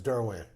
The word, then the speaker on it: Derouen: It's Derouen. Derouen. Derouen? Derouen. It's Derouen. I would have said Derouen. Like me French. having lived in Lafayette for many years, I know how to say it.